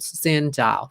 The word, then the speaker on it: xin chào: All right, so xin chào, very easy, right? 2 syllables, xin chào, xin chào.